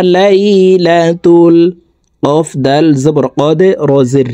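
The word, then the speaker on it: قدر: কদে রি, রকে ওয়াকফের ক্ষেত্রে সাকিন করে ফেলবো, তখন শব্দটি এভাবে পড়তে হবে। কদর, কদর, ফি লাইলাতিল কদর।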